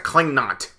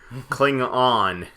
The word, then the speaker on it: Klingon: Like, you couldn't even pronounce the name right. It's like, it's a Klingnot. Klingon.